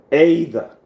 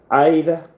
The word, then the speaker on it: either: Another example under free variation is either. Look at that word. It's either or either.